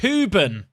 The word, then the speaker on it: Hoban: it for me lads it's pronounced huben why is it in Hoban then Frederickson there's options